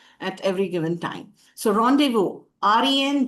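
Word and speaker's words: rendezvous: So rendevu re nde d e z v o us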